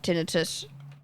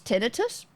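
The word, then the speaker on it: tinnitus: Maybe tinitus is one of the British pronunciation. Tinitis. Yeah, I don't know. Tinitus makes more sense to me. How to pronounce? Let's just ask Google. Tin tinitis. Tinitus. Okay. British pronunciation. Tinitus. Tinitus. American. Tinidis. Apparently, it's just tinus.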